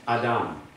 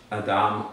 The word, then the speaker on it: Adam: a stronger sound than Adam. Adam. I don't make a full TH sound like some do. Some say Adam. I'm like, that's an Americanized TH.